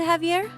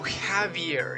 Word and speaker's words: Javier: want to talk to Javier oh Havier it's pronounced like an H I mean yeah I